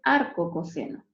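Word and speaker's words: arccos: caso del cose no se escribe arq cos y se dice arco coseno y en el caso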